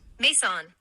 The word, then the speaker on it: Maison: I have to make this fact clear, because my brother Maison Nelson thought I made it up. No lie. Maison, pronounced Mason, recorded my doctoral graduation.